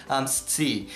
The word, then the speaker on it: scii: pri la fakto, ke mi ne tiel bone prononcas la vorton aŭ la verbon scii. Kaj mi scias, ke mi ofte ne tiel bone distingas inter la so kaj la co, sed tio ofte okazas,